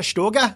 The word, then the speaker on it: Stöger: It's O with an umlaut, right, which is Stöger.